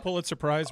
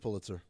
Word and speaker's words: Pulitzer: Pullet surprise winner. What up, Tony? Who's Where's the Pulitzer Prize winner? Oh. Oh, Am mean. What up, man? How are you? Congratulations. Thank you. It's pronounced Pulitzer.